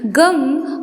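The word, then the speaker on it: गं: गढ़ के आदि अर्थात ग कर पहले उच्चारण करें। उसके बाद वर्णों के आदि अर्थात अ उच्चारण करें। उसके बाद अनुस्वार उच्चारित होता है। इस प्रकार अर्धचंद्र से सुशोभित गम ओमकार से अवरुद्ध होने पर तुम्हारे बीज मंत्र का स्वरूप ओम गम है।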